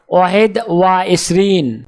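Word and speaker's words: واحد وعشرون: আরবি ক্রমিক সংখ্যা 21 দেখতে এরকম, উচ্চারণ হবে ওয়াহেদ ওয়া এশরিন।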